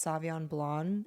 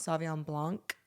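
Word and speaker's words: Sauvignon Blanc: fun fact I just found out it is pronounced Savon blond and not savan Blanc with the c and I've been embarrassed ever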